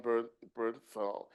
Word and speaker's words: Bernthal: My tenuous excitement for the series when it was first announced hinged on John Bern, Ben," how do you pronounce it, Bernthal? DOREEN ST. FELIX - Bernthal.